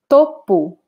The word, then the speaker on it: topo: So if I say topo, topo, then I'm talking about the top, very similar to English, right? So the top of a mountain would be topo da montanha. So notice the pronunciation. If it's the noun meaning top, then I say Topo.